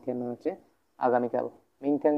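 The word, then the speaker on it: 天: সব ঠিক আছে, থিয়ান যেটা সম্পূর্ণ একটা ফার্স্ট টোন, থিয়ান, এগুলো সব ফার্স্ট টোন, এগুলো সব কিন্তু ফার্স্ট টোন।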